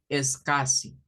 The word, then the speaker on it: SCSI: llamaban verdad discos duros es casi esto scsi se pronunciaba como es casi es casi se llamaban